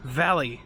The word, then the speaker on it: Valle: in town later that it is pronounced valley not val i thought the e was silent so anyways wanted to